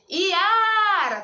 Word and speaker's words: Iara: Iara! Tá vendo que o A, eu fiquei um tempão falando? O A é a minha sílaba tônica.